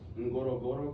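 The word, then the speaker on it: Ngorongoro: And then we have the Noro Goro crater. That's how you pronounce that crater.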